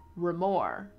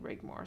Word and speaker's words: Rigmor: Oh, only if you care about the pronunciation of the Rigmor T, ignore the G. Remor. The Remor T? Interesting. Okay, thank you. I definitely didn't like saying Rigmor, so that's hilarious.